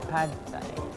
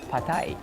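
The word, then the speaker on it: Pad thai: is pad thayan yung dating iniisip natin padai apparently it's pronounced as patay hing ganon Pai is a national tha.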